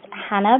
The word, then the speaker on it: Jana: My name is Hannah, but it's spelled Jana to confuse everyone.